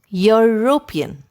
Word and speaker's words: European: which you pronounce words the word european starts with the sound of the letter y if you don't believe me try saying it yourself european since the word starts